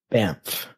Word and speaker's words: Banff: it's spelled b n FF but like it's pronounced bamp yeah I don't know I see how that would get stuck in the tongue whatever it's uh so it's like it's like a Historic Hotel uh in bamp in Canada um it's is like over 12